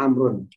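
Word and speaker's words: عمرو: Jadi kalau ini bacanya Umaru, kalau ini bacanya Amrun.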